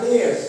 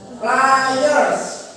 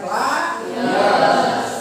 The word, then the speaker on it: pliers: Tang, bukan pliers tapi pliers. Karena di sini ada iers ya. Jadi dibacanya pliers.